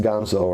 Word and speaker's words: Ganzo: even pronouncing that right I know in Spanish it's pronounced Gonzo right so the Ganso knife